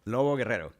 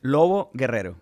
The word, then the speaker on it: Lobo-Guerrero: I want to start by asking about your name, just to make sure I'm pronouncing it correctly. Lobo-Guerrero. Lobo-Guerrero, yes. Close enough. Say it again. Lobo-Guerrero.